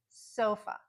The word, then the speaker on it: sofa: And then the A, it's just a. Sofa, sofa.